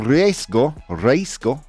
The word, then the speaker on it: riesgo: El Mundial de 2026 corre el riesgo, how do you pronounce that word properly, Dan?